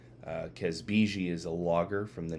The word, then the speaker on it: Kazbegi: This is a barley episode, and it is Kazbegi. I believe I have the pronunciation correct. Kazbegi is a lager from